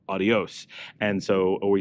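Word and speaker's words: adiós: dropped quite often so the S at the end of a word will easily not be pronounced and so we often say things like uh we just had a video on this we say AIO instead of adios and so we say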